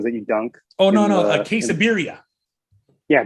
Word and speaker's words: quesabirria: Oh no, quesabirria.